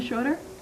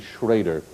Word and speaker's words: Schroeder: William Schroeder. That's right. Oh, we'll accept that, although the pronunciation is actually Schrader.